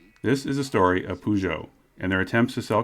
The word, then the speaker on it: Peugeot: remains highly unlikely this is a story of pujo and their attempts to sell cars in america